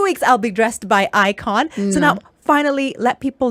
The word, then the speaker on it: Ikojn: Remember, Ikojn, the J is silent and it's Njoki backwards.